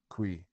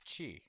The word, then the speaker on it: Quai: So that's that's qui. It's it's chi.